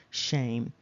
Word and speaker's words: Shem: 834 strongs there is the name Shem pronounced shame however there is no